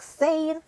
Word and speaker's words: zehn: Like this is the pronunciation, but of course you're going to spell it like Z-E-H-N, and you're going to say it like sane.